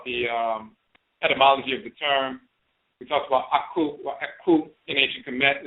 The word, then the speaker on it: Aakhu: But the key is, again, when you talk about the nasal pronunciation in the Akan tradition, this is where you get the Aakhu in Akan becomes Aakhu or Aakhu in ancient Kemet.